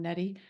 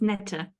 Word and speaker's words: Neta: get you again um Netty is that the right way to say your name I love it it's so cool it's Neta Neta it's that's beautiful um